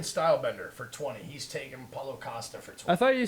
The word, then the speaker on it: Paulo Costa: I was explaining to him how to say his name because he keeps calling him Acosta, like his first name is Paul. Paul Acosta. His name Yeah. is Paulo Costa.